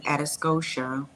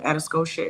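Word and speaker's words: Atascosa: Interstate 35 access road and it is an atos Scotia um atos Scotia is spelled a t a s c o s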